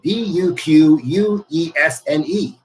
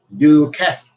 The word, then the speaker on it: Duquesne: They lived in a small town in Pennsylvania called, I have to spell it for you, Duquesne. Duquesne.